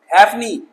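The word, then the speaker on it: halfpenny: हाँ चलो, हैफनी, F silent है यहाँ पे, हैफनी, है ना।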